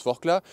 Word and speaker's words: Forclaz: Sauf que Forclaz, ça se prononce Forclaz, c'est en Savoie, on ne prononce pas le Z à la fin.